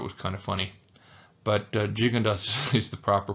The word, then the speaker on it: Gigondas: little bit of Rosé I used to call jundas gundas only because the wines were so big um and also because I thought it was kind of funny but jig andas is the proper pronunciation vakara uh is another